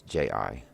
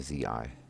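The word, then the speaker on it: じ: was a diacritic becomes I'm assuming it's pronounced gee but it's ji rather than the Zi so it be SI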